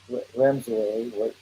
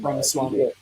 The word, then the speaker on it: Ramaswamy: It surprises Vivek Ramsaway, however you say his name. Ramaswamy.